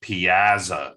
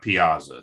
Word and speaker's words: piazza: And just as a correction, as I've watched this meeting, the old Bob Stockton rules is that this is pronounced Piazza, not Piazza.